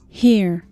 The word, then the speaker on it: here: Here. O H tem som de Here. h, como em haha. E Here. terminamos com a pronúncia er.